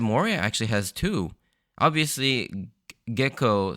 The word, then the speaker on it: Gecko: with a different intonation there's like a a sort of a harsh pause in the middle instead of gecko it's gecko so I'm probably going